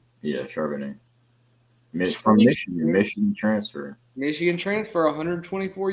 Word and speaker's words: Charbonnet: But UCLA running back, how do you pronounce that? Charbonnet? Yeah, Charbonnet.